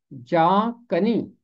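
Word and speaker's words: جاں کنی: इसका तलफ़ुज़ है जा कनी। जान कनी बेशक लिखा है, मगर उर्दू में हम इसे जा कनी पढ़ते हैं नून गुन्ना के साथ।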